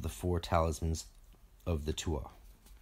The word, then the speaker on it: Tuatha: four talismans of the Tua. Most people pronounce that Tuatha, just in case you're wondering what word I'm saying, as they related to